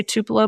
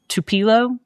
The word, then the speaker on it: Tupelo: I did not know how to say Tupelo before I got there. Um, I kept calling it like Tupilo and something else.